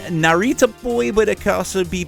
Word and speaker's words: Narita Boy: the song and the game Narita boy it's pronounced Narita boy but it could also be pronounced I guess